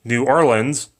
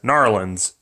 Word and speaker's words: New Orleans: french as in english new orleans but if you're from here you'll probably pronounce it as gnarlins regionally it's in the